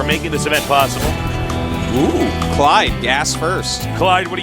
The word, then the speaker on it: Clide: Rhymes with Tide. TSA Clide.